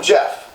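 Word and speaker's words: Geoff: Anyway, this comes from Jeff, but it's spelled G-off.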